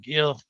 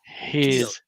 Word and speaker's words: Gil: and and Gil or they call him heel whatever you want to pronounce his name heel not Gil not Gil heel yeah for you uh yeah people like the G is an H okay but yeah he